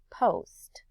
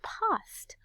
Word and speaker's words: post: pronounce this though as post i pronounce it as post with a long o sound so if you were